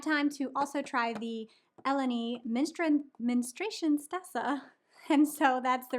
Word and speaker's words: Elanee: decide to help me out, and it was Elanee.